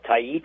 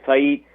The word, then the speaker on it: Tait: And I think his last name is pronounced Tait. I think it's Eduardo Tait.